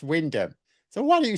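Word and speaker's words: Wymondham: So I pronounced it how it's spelt and the comments are full of people going oh it's pronounced Windham.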